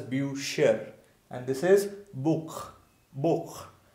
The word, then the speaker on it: Bücher: So because there is not simple u, there is u with umlaut, u with umlaut. So that's why this will be pronounced as bücher, and this is Buch, Buch, Bücher.